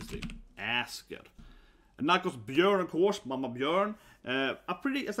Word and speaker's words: Björn: But I mean, this is pronounced Björn, again, at Ö, it's kind of an Ö sound, so Björn, other than that can